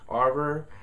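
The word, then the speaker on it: Auror: know if you guys had trouble pronouncing that but a u r o r that word aror the aror the head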